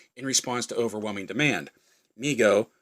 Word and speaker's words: Mego: response to overwhelming demand migo pronounced amigo corp has started was started by his father david abrams in 1954 and named by his younger brother howard who would say me go to howard later became